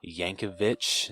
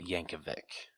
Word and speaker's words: Yankovic: for the longest time I thought he'd pronounced his last name Yankovic not Yankovic I I made that same mistake for years yeah and then someone pointed out like he no it's just a c at the end it's Yankovic and